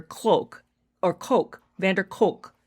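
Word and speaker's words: van der Kolk: or Coke Van Der Coke I've always been saying a clock it's not clock it's k-o-l-k Coke so forgive me if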